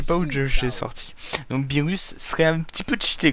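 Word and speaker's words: Beerus: Alors moi je dis Bizirus hein, je sais pas si Bezerus. Attendez, c'est comment que ça s'écrit with voilà. Ah non, c'est Birus, pardon, c'est pas Bizirus.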